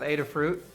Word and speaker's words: Adafruit: oh no we also established the correct pronunciation of Adafruit ADA fruit and oriented and also